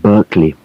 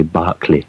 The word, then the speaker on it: Berkeley: university in california but although in america they pronounce it berkeley in england we uh say barkley barkley right well sounds